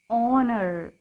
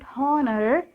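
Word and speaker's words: honour: pronounce this word children honor this is not horner h is silent here we can read this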